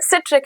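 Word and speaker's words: citric: और यह सिट्रिक acid या साइट्रिक acid whatever you like to pronounce और उसका यह फ़ॉर्मूला C6H8O7 हाइड्रोजन और कार्बन का बॉन्ड है।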